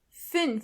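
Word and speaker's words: fünf: even closer to each other e try to pronounce those words with me tu tu means door m m means trash and finally fin f means five U so all together we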